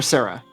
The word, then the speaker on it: Zarah: or Zarah Zarah or Sarah it's it's pronounced Sarah because it's spelled Zarah but she wants people humans to call her Sarah because it's more human sounding it's spelled it's said